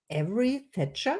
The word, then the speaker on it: Avery Thatcher: my today's guest is Avery Thatcher. Is that true? Yes, that's Or perfect. did I pronounce it right?